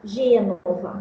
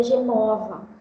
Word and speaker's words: Gênova: Então, uma criança, ela vai ler uma palavra, por exemplo, Gênova, cidade italiana. Ela lê Genova, apesar do acento circunflexo na primeira sílaba.